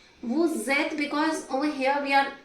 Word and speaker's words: vous êtes: But when the next letter is a vowel, we merge these two sounds.